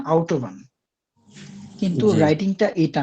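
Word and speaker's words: Autobahn: এটাকে তুর্কির মানুষ অটোবানি বলে কিন্তু এটার জার্মান প্রোনাউন্সিয়েশন আউট ওভবান কিন্তু রাইটিংটা এটা না এটা জাস্ট একটা ধারণা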